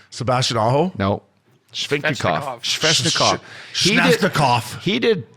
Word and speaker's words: Svechnikov: Shnefnikov. That wasn't it either. Princey, how do you say it? Svechnikov.